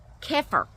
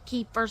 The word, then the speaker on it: kefir: Fermented foods like sauerkraut, yogurt, kefir. Some people pronounce it kefir, some people pronounce it kefir, I think is how it's supposed to be pronounced, but we shorten it and say kefir.